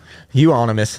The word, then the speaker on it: Euonymus: Euonymus. That's how you pronounce it.